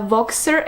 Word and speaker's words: Voxer: Also, the read along is so wonderful because I finally pushed myself into creating a Voxer account.